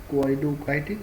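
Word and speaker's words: coenocytic: Coinocytic also, this term is pronounced as koinocytic also or koinocytic also.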